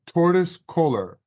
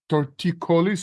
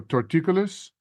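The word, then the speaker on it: torticollis: and the guy there told me I had tortoise collar and I should wear a neck brace what the heck is tauris Coler and how long will I need the brace Joey it's actually pronounced torticolis or torticolis but regardless thank you for the question and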